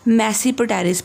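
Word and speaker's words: Tmesipteris: Living forms कौन सी हैं, Psilotum, एक और है लिविंग फॉर्म मैसीपटेरिस, बेटा टी इज साइलेंट, मैसीपटेरिस, राइट।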